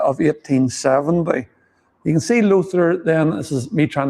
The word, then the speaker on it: Lothair: So, Lothair Avenue, is that again is that pronounced correctly? You say what? Lothair. Lothair.